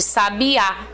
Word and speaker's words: sabiá: paroxítonas e proparoxítonas né oxítonas é quando a gente acentua a última sílaba como é o caso aqui ó de sabiá tá o sabiá Então esse